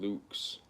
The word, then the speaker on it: LVX: lvx is the Divine Light from God it's pronounced Lukes 6 + 5 is the holy hexagram the